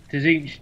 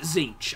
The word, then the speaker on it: Tzeentch: I pronounce it Tzeentch. I pronounce it with a silent T.